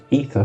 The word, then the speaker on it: Aether: Um this subclass is called the Aether ether specialist. The A is silent.